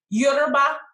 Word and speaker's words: Yoruba: So I am currently in the process of doing more research about the tribes, like the Yoruba tribe, that's the appropriate pronunciation, and the Igbo tribes.